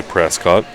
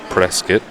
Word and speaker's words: Prescott: one is Prescott Arizona most people say Prescott but it's pronounced press kit why all the natives